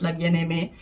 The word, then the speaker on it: La Bien-Aimée: of French names, and I hear a lot of people struggle with La Bien-Aimée. So if you're watching this and you're wondering, it is La Bien-Aimée. The contrast color here is from La Bien-Aimée.